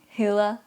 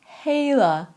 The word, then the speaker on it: hedder: Pay attention to the vowel you make, because hedder is the verb we need, and hedder, which sounds very similar, and the way it's spelled is similar to the verb we need, but the meaning is different. Hedder means I'm called, my name is, and hader means to hate.